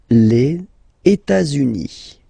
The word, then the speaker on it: les États-Unis: Les États-Unis. Okay, so if we make every links, we'll have it here and then here.